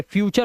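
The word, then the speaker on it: future: आर ई आता है, या टी के बाद आपका यू आर और ई टी के बाद दिखाई दे जाए तो टी का जो उच्चारण होता है ना वो चा हो जाता है। क्या हो जाता है, चा। तो नेचर, ये फटूरे नहीं है, ये फ्यूचर हो गया।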